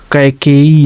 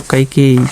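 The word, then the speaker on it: Kaikeyi: सुरेश, इसी प्रकार देखिए कैकेयी, इसको पढ़ेंगे कै, का के आई के ए आई, कै का के ए के ई, के ई वाई आई, बड़ी से आई ना या डबल ई, ठीक। तो कैकेयी, इसको कैकेयी, ठीक।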